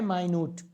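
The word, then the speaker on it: minute: second पढ़ते होगे और इसी चीज का जी उच्चारण किया जाता है माइन्यूट माइन्यूट का मतलब होता है जी बारीक और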